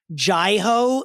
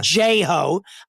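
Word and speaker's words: Jai Ho: It was more Nicole, but correct pronunciation, Jai-Ho. Nicole pronunciation, J-Ho.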